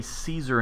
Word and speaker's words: Caesar: as i understand it we say caesar in english as in you know with a s-sound caesar whereas i understand the probably the more accurate Latin pronunciation would be with a K sound so Kaiser or possibly Kaiser because if you've ever heard the the German Kaiser its Caesar it's just in German all right so none